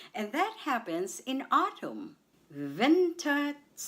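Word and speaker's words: Winterzeit: Ventatite. Ventite. The stress is on vin on the first syllable vented site or what you call normal sight.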